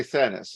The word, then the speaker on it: Thanas: I pronounce that correctly. I always say Thanas.